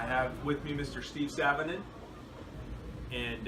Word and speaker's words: Sanonen: Steve Sanonen. And how do you like your last name to be pronounced?